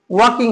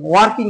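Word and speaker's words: walking: আই এম ওয়াকিং, ওয়াকিং হবে, ওয়াকিং, ওয়ার্কিং নয়, ওয়াকিং নয়, ওয়াকিং, ওয়াকিং, ওয়াকিং, আগে প্রোনাউন্সিয়েশনটা ঠিক করতে হবে।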